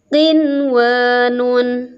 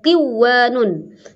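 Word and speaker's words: قِنْوَانٌ: Kemudian qinwanun, nah ini ada di ayat 6, ada di surat ke-6 ayat 99 ya, tidak boleh qiwanun tapi tetap apa adanya tulisan qinwanun.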